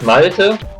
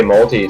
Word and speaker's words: Malte: In Germany, it's Malte, but usually the Americans say Malte, so that's all right. Malto, like maltodextrin. More like malted stuff.